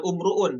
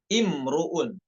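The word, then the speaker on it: امرؤ: ee hamzahnya berharakat kasr bukan umruun tapi imruun ya imruun pada ayat inimun ya bagaimana cara baca kata Eh imruun ini Apakah dengan dah ataukah dengan kasr hamzahnya dengan kasr imrun Ya lanjut selanjutnya nomor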